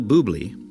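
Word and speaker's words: Bublé: music, worship postures, speaking in tongues, TobyMac, Michael Buble, yes, that's the way I pronounce it, Ren, the rapper, not Stimpy's friend,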